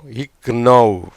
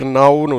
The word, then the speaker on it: know: எப்படி மாறுது இது, எப்படி உச்சரிக்கப்படும், இக் நவ். எப்படி உச்சரிக்கப்படும், இக் நவ்னு உச்சரிக்கப்படும், ரைட்டா? ஆனால் இப்படி உச்சரிக்கக்கூடாதுங்க, நவ் அப்படின்னு தான் உச்சரிக்கணும். ஏன்னா அந்த கேக்கு உச்சரிப்பு கிடையாது.